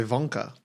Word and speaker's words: Wonka: And if you were German, you'd say Wonka because you pronounce W's as V's.